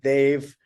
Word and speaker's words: Dev: It's DEV. It's pronounced Dave.